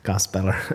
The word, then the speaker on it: gospeller: my chapters and uh gospeller was kind of an unusual word for people to pronounce so each chapter title rhymes with the title so the first chapter is called swamp dweller that rhs with gospeller so eight of them